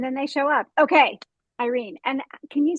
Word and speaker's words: Irene: So the Spanish pronunciation is Irene, but again, I've lived in so many different countries that I'm more than comfortable with Irene, or really any pronunciation whatsoever.